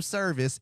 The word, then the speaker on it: Servis: z a h and my last name service it is not a church service it is spelled s